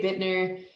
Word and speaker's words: Buettner: and you know what it's uh not pronounced the way it's spelled anyways so what is it